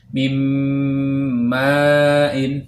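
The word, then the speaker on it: مِنْ مَاءٍ: Tulisannya min ma'in, namun cara membacanya mim ma'in. Bunyi nun sukunnya min, nun sukunnya itu kita masukkan kepada huruf mim, jadinya mim ma'in.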